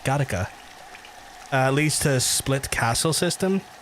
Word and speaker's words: Gattaca: No, it's Gattaca, right? Not Gotcha, Gattaca.